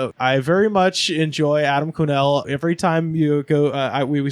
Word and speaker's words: Quesnell: here Adam quenelle yeah my last name's spelled with a Q so figure that out and there's an S that doesn't make it's not make a peep - gross french-canadian quiet as a church mouse that it's a french-canadian